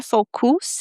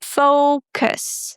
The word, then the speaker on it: focus: And guys, in those words we don't pronounce the u as the oo sound. So we don't say focus.